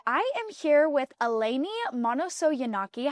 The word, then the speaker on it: Manousogiannakis: And today I am here with Eleni Manousogiannakis. How are you doing today? Good, thank you. Very impressive with pronouncing the last name correctly.